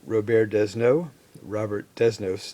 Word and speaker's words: Robert Desnos: music and art critic Robert Desnos, in English, American English pronunciation, so I used some